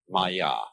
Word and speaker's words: Maya: I'm going to write that down for you pronounce Maya and this word comes from a root in